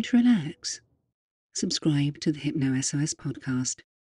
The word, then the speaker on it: HypnoSOS: It's not hypnosis. It's HypnoSOS. And in case you just zoned out there, I'll spell it for you.